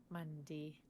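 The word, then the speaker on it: Mundy: it's spelled Monday. M-U-N-D-Y. Monday. Like Bundy.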